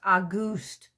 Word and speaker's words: Auguste: It's spelled like the month, August, with an E tacked on, but it's pronounced Auguste.